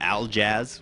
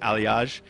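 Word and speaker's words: Aljaz: he also goes by alage which is spelled a LJ a z so everybody calls him Al Jazz which is totally wrong I mean it's his first name it's pronounced alage um but we can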